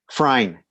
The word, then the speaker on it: Frein: Frein. Frein. Okay. Yeah. Is that Germain? Yeah, it's German. Yeah, that the E is silent, and I even all